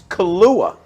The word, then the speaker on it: Kahlua: That's He like mispronounced. It's Kahlua. that's Kahlua.